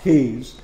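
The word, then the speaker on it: Caius: is dr keys uh kyle's pronounced keys uh and he uh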